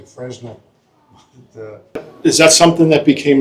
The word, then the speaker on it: Fresnel: And there's an S in the middle of his name, which is silent, but you'll hear a lot of us Americans say Fresnel.